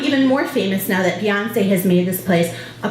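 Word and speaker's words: Beyoncé: says Dad can't pronounce Beyonce's name no matter how hard he tries he calls her boyans like Hawaii it's Beyonce I correct him boys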